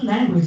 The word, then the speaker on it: language: first syllable so so speak after me language language so Lang will be louder and which will be a little less loud language in the second